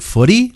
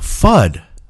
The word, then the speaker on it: FUD: Is it footy? Like foot? No. Thud. Elmer Thud. Oh, FUD.